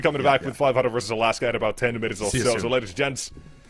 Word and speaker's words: Alaska: Aljaska, because that's how we say it. That's how you say it in Slovenian. Yeah, Aljaska. Can you just not conform to the English pronunciation just once? Alaska.